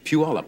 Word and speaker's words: Puyallup: Puyallup, I believe it's pronounced, right? Yes, it is. Anybody know for sure? Puyallup, Washington.